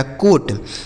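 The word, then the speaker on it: coat: सी ओ ए टी सी से हो गया दोस्तों क इस ओ और ए का उच्चारण ओ की मात्रा टी से हो गया ट लिखा गया कोट सी ओ ए टी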